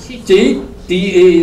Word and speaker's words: citta: So now CIT. IT is it. C is, we say, cha. So it becomes chit. Chit. T-A is star. Chitta.